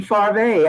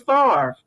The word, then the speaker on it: Farve: went in the military i pronounced my name fave i didn't even want anybody know my name was far because you wear a